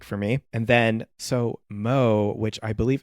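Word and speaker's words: MØ: i was looking online i believe you pronounce it like mu oh and yeah sort of like mew muse i don't know produced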